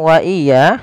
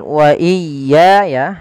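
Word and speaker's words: وإياي: Kemudian dalam kata wa iya, sempurnakan bunyi ya. Biasanya, banyak kesalahan terjadi tepat di sini. Hal ini biasanya memperpanjang pengucapan ya, iya, yang seharusnya tidak dilakukan, melainkan menekan ya, wa iya. Ada juga, misalnya, wa iya, tidak menekan tasdid. Ini juga salah, seharusnya wa iya ya farhabun.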